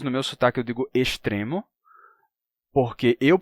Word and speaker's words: extremo: Se eu digo estrela, eu também vou dizer extremo. Mas quem diz estrela vai dizer extremo, tá?